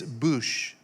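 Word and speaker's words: בוש: the first one is boosh it's b-u-w-s-h is pronounced bouche like booth with an sh it's used most often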